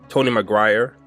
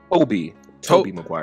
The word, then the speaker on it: Tobey Maguire: I'm in my 20s, the Tony Maguire, is that how you pronounce his name? Tony Maguire? Tobey Maguire. Oh, Tobey. Yeah. I'll just say Tobey. Just Tobey.